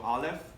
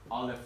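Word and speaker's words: אלף: Remember, we go Aleph, and we all go like this because the first letter, Aleph, is a silent letter, okay?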